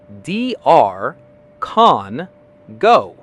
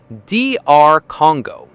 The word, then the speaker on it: DR Congo: Many people blend the abbreviation incorrectly or misplace the rhythm, but the correct American pronunciation is DR Congo. Let's break it down into three easy syllables. DR, con, go.